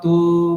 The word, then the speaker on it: तु: আমরা কি করি, আমরা আমাদের উচ্চারণের সুবিধার্থে কি করি, দৃষ্ট্বা তু পাণ্ডবা নিকম, এখানে তকারটাকে আমরা দীর্ঘ বলে দিই, কিন্তু সেটা ভুল। এখানে তকারটা কি আছে, হ্রস্ব উকার আছে।